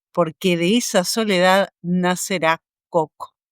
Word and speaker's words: Coco: de esa soledad nacerá coco o cocó. en realidad, cómo se sería eh bien pronunciado.